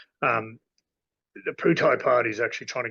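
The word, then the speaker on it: Pheu Thai: it's really interesting the food thai party it's not food made at the Poo type party but pronounced with a p um the putai party is actually trying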